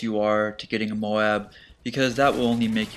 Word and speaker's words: MOAB: MOAB ready for your go.